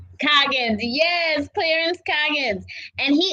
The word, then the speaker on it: Coggins: show we are here today with Clarence Coggins I am messing up your name that's quite all right uh it's Coggins Coggins yes Clarence Coggins and he is the author